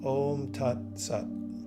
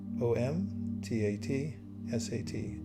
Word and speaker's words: Om Tat Sat: And say the three syllables, Om Tat Sat. O M T A T S A T Om Tat Sat.